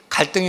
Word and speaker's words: 갈등: 올라가는 칡나무와 등나무를 가리키면서 갈등이 어디서부터 온 얘기인지 얘기를 하더라고요. 이 갈등을 한자로 보면 갈자는 칡나무 갈자를 쓰고요, 등자는 등나무 등자를 씁니다. 그래서 이걸 읽을 때는 갈등이라고 읽는 것이 아니라 갈등 이렇게 읽어야 된대요.